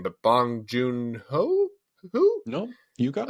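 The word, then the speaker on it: Bong Joon-ho: for him I think that uh I'm gonna butcher the director's name but bong junho who no you got right okay yeah the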